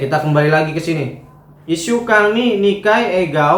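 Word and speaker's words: 一週間: Oke, Ishukang ini dibacanya Ishukang ya, bukan Ichishukang ya.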